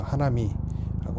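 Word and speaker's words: 花見: 대부분 이제 하나이라고 할 때이 하나가 꽃 화자를 일본 말로 하나로 읽거든요. 그리고 볼 견자를 미라고 읽고 그래서 하나미라고 하는 건데 그래서 꽃을 보다 이런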